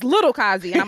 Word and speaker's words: Kazi: Yeah, no, it's Kazi.